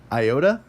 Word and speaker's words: iota: Iota, it's either going to be I or E. Like that, depending on whether it's short or long.